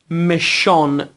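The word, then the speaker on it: méchant: فرانسوی باید تلفظ کنم خیر مشان یا مشان درستش اینه که ان به صورت تو دماغی تلفظ بشه مشا به معنی بد یا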